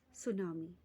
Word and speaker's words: tsunami: Today, we will move on with the next natural disaster, that is tsunami. T is silent here, okay?